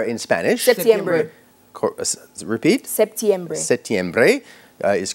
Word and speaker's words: septiembre: What is the pronunciation of the month September in Spanish? September. Repeat. September. Septiembre is correct.